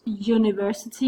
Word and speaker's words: university: And the same goes with a year down the road, the best university in the country. He is a young man. They all sound as if they were beginning with a Danish J sound, but they actually do begin with a vowel.